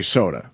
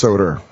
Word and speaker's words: Soder: It's a weird last name because you want to say Soda, You want to say soda. but it's you- Soder, Yeah, it's Soder. which is kind of how he said soda on Long Island.